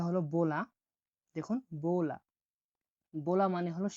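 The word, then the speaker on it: bola: বি উচ্চারণ হয়ে থাকে বয়ের মতো, উচ্চারণটা হলো বোলা।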